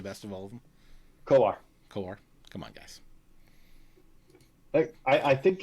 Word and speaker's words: Kowar: Jackson Cowers, so far the best of all of them. Kowar.